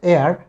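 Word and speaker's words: heir: তো এটা হচ্ছে এয়ার, এটার উচ্চারণটা হচ্ছে এয়ার, এইচ এর উচ্চারণ এখানে হবে না।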